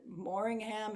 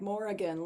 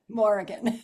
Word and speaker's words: Morrighan: Is it Morringham? Is it Morgan? Is it? And then you corrected me with like Morrigan, like Oregon. So everybody out Exactly. there, that's how she pronounces it, like Oregon, Morrigan.